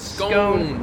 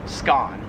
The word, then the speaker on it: scone: We pronounce that in American English as scone, whereas in Australian English, it is pronounced scone.